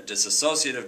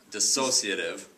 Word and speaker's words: dissociative: disorder, a smataphform disorder, a disassociative disorder or I should say I always mispronounce that dis dissociative disorder uh mood disorder, schizophrenia, personality disorders or all the above.